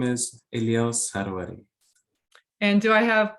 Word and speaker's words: Elyas: you were so polite, you didn't stop me, but later on, you told me that actually you prefer to be called Elyas, and I think many Americans pronounce it 'Elias.'